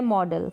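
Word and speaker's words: model: जैसे ये है मॉडल, क्या है, मॉडल, अब इसको मॉडल नहीं पढ़ेंगे और इसके अलावा तो कोई प्रोनाउंसिएशन इसका बनता नहीं है, मॉडल ही बनता है, यानी कि अ के रूप में आप प्रोनाउंस करेंगे।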